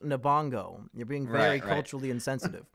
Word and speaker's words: Lupita Nyong'o: She's the main character, and Erich, please, her last name is pronounced Nabongo.